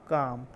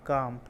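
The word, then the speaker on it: calm: रहा हूं मैं पर इसके अंदर एल साइलेंट है तो काम सी ए एम काम मतलब बिल्कुल शांत बिल्कुल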